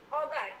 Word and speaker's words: Auger: Sometimes we will call it auger, but we normally pronounce it as OJ electron spectroscopy.